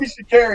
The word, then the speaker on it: Sha'Carri: Oh, it's Sha'Carri. It rhymes with Barry.